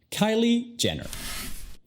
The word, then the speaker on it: Kylie Jenner: La primera sílaba, K-Y, es la enfatizada.